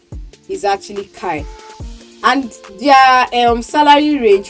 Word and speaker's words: Chi: work in Kai limited yeah I know it's pronounced Chi limited but the pronunciation is actually Kai and their um salary range for a food